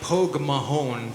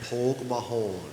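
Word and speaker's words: Póg mo thóin: It sounds sort of like Pogue Mahone for you Yanks out there. Pogue Mahone.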